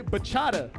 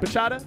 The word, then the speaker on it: bachata: Bachata is a type of salsa dancing. Am I saying it right? Bachata? Bachata?